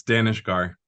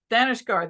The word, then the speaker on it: Daneshgar: was I always Bumble it it's okay it's Danish gar Danish gar there we go I always hate it when people mispronounce names so uh anyway he's a planted